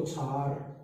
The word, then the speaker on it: क्षार: क्षार। गलत उच्चारण करते हैं, सही उच्चारण क्षार है, और बोलते हैं हमें क्षार।